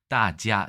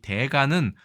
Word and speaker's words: 大家: 이 대가는 우리나라에선 대가라고 읽고요. 자, 영어로 구조하자면 마스터나 마에스트로 혹은 expert의 뜻으로 사용되는 전문가의 뜻이라고 한다면 중국에서 회화에서 가장 많이 쓰는 것은 따지아라고 읽고 모든 사람, everyone, 여러분 등의 뜻으로 가장 많이 쓰이고 있습니다. 반대로 일본에서는 오야라고 훈독을 하면 이건 새집 주인, 임대인,